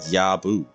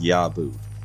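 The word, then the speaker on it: Jabo: It's pronounced Yabu. It sounds like Naboo, you know, from Star Wars. It's pronounced Yabu. Okay, I've been calling it the J-Bow this whole time.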